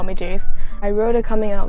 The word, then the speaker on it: Jace: and by the way, my name is Jace, that's how you pronounce it, like Ace, but with a J. So J-A-C-E, not, not C-H, Jace, so.